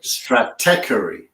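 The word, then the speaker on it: Stratechery: has trouble with it as well but it's straty straty straty rather than yeah no this is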